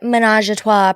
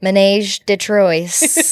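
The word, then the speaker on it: Ménage à Trois: We're drinking Menage a Trois Prosecco, or as my husband said, Menage de Trois, or whatever. He just pronounced it phonetically. So phonetically.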